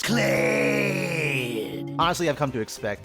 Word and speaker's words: Kled: What rhymes with dead? That's right. It's Kled.